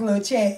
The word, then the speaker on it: La Chat: everybody it's all just i guess the lah just kind of part of my talent but it's still pronounced little chat you know what i'm